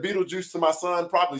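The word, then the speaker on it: Betelgeuse: I was like, man, this is, you know, Beetle Goose or Beetle Ghost. I don't even know what it says, you know? So just for everybody knowing, and when you read it, it is pronounced Beetlejuice.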